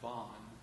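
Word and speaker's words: Vaughan: singing the vagabond by von williams vlog it's pronounced bond very well give to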